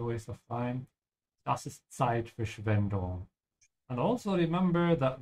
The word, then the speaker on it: Zeitverschwendung: Das ist Zeitverschwendung. And also remember that the Z sound in German is like a TS sound.